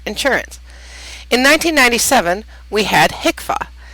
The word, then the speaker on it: HCFA: in 1997 we had hicka did you know that hcfa is pronounced hicka now it has changed